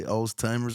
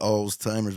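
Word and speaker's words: Alzheimer's: yeah did I say alltimers I don't know how you pronounce it that's what we call it alltimers but I think it's all heimr or some people say oldtimers which is really funny old timers cuz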